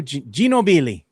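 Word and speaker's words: Ginóbili: Remember that's how you used to say his name? They couldn't say his name right. Well, that that that's that's how you pronounce it actually. That's the right they would say go. Genobi is just how we is how we say it.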